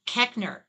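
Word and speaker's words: Koechner: Um, Cowbot is saying it's pronounced Kekner.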